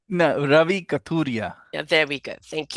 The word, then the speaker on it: Kathuria: Is that correct, or did I pronounce it wrong? No, Ravi Kathuria.